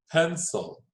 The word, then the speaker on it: pencil: do we divide this the c i makes a c sound okay so the c makes an s sound sounds like an s when it's c i or c e okay it's a soft c so pan soul pencil